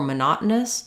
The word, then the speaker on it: monotonous: we have MAA Mana so I suggest for monotonous starting on the stress syllable try nous monotonous monotonous monotonous um so let's go break